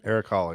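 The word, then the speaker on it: Erik Haula: I hope it's another Holla. Is that how you say his name? Eric Holla, yeah.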